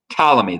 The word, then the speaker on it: Ptolemy: exception of egypt which ptolemy yes i know that's a weird looking name it's ptolemy the p is silent kind of like pterodactyl so this is what